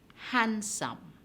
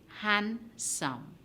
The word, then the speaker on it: handsome: him the n asylum handsome han sum you hear no sound of the d in the word handsome